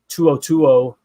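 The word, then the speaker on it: To'oTo'o: You got Al-Shair and you've got Tuo.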